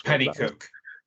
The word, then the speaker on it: Pennycook: I could not even attempt to pronounce. It's Pennycook.